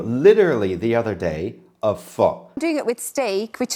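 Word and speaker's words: phở: Guys, we're gonna make pho, a classic French Vietnamese dish, which actually, faux pas, it should be called pho. Correct. It pronounced pho.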